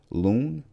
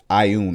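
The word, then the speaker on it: Ioun: Built a long time ago to the goddess of knowledge, Loon, Laun. Oh, you're gonna pronounce Ayun.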